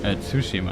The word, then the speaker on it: Tsushima: Tsushima, I think it's pronounced. Press on the U.